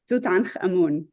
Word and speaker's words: Tutankhamun: I find it hard to say his name in English, but Tutankhamun. That's how we say it, anyways.